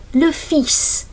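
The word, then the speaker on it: le fils: Lis son. This is pronounced this s which is quite unusual.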